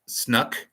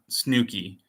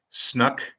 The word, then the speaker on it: Snook: you say my name it's snook pronounced snuck not snooky not like snooky snooky Stackhouse but things at least for saying my name I appreciate so it's snuck family Studios snuck with like a hard k I'm listening at work